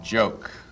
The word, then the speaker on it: joke: A cool word to print is joke.